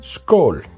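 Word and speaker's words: skål: you cheers how do you say cheers in skull skull yeah skull I can taste the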